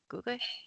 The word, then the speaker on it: Gugwe: You said that the Gugways, is that how you pronounce them? Gugwe? Gugwe? Yes. Oh, it is.